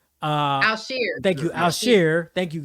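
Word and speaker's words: Al-Shaair: well it doesn't look like it I can't pronounce old boy's name I think it's Al Shir uh Al sheer thank you alare thank you guys he has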